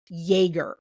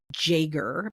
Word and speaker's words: Jaeger: name is spelt jer, which in German is pronounced Jerger, which I had a dog.